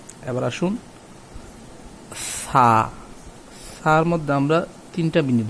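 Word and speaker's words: ث: জিহ্বাটা একটু বাহির করে দিতে হবে, 2 দাঁতের মাঝখানে জিহ্বাটা বাহির করে বলতে হবে সা।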